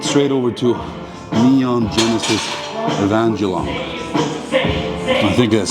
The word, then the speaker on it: Evangelion: and like went straight over to Neon Genesis Evangelion. I think that's how you say it, Evangelion.